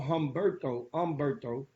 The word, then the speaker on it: Humberto: We haven't had a weather report on the Chop Shop in I don't know how long, but Tropical Storm Humberto, the H is silent, is expected to drop